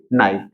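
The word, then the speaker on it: knight: के हो, के बाद एन हो और एन के बाद कोई भी वॉवेल हो, तो उस कंडीशन में के साइलेंट होता है। तो यहाँ पे के का साउंड नहीं आएगा।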